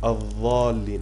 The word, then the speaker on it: الضالين: Ils disent ad-dallin avec celle-ci. Non. Ad-dallin, غير المغضوب عليهم ولا الضالين, ça s'écrit pas avec celle-ci, et ça s'écrit avec, on l'a pas vu encore, avec celle-ci. Hein? Ad-dallin, et pas celle-ci. Celle-là c'est ad-dallin et c'est faux.